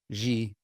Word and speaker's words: Gilles: Gilles, I think, is how you say that. Okay. We might call it Gilles in English, but Gilles is, I believe, how it's supposed to be in French.